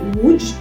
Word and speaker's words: Łódź: On va un peu le prononcer comme wo. Et par exemple, un mot qui commence par cette lettre-là, on a la ville Łódź.